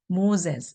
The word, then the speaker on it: Moses: through Moses, 모세를 통해서 Moses, 즈 발음입니다.